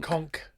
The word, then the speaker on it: conch: Also, you don't say conch, do you? That's a mispronunciation, isn't it? Conchk. Conchk.